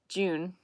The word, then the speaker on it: Jun: It's not Jyn, it's Jin. Like Ju.